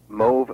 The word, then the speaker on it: mauve: okay it's a color is it Mo or is it mauve it's the former it mve rhymes with stove it's mve correct yes and how do